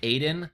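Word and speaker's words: Adyen: with a company called I believe it's pronounced Aden uh although it's it's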